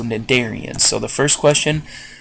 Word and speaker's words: Cnidarians: So I think we've mentioned this word in class, know that the C is silent, so Cnidarians.